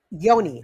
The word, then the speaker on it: Yoni: Yoni I reminded yeah I just say Yoni because it rhymes with Pony and the genuine song